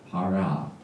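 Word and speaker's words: פרעה: 그런데 이 히브리 글자를 보면은요, 바로가 아까도 나왔지만은요, 페이, 레이시, 아인, 헤이, 파라, 바라 이렇게 발음하죠.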